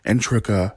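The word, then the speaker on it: Integra: to the helsing organization under the leadership of entreka helsing and that's how you pronounce her name a great granddaughter of abraham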